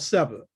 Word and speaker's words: Seba: It's called Seba, S-E-B-A. We don't really know how the Kemites spoke, so there's a vowel put in there, but it's spelled S-B-A.